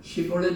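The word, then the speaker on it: 쉽볼렛: 딱 발음으로 하는 Պ릿 이렇게 sh 발음 쉬볼렛 이래야 되는데 볼넷 si 발음으로 하면 딱 잡아 가지고 그냥 목을 쳤다는 거예요.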